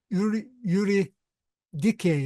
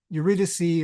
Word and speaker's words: Eurydice: He wanted to get his wife Eurydice. I'm trying to pronounce it the Greek way, but we usually see Eurydice or Eurydice, whatever in English, but Eurydice in Greek.